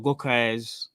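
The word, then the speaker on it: Gyökeres: and then you've got Gokes, that's how you pronounce it, from at Sporting.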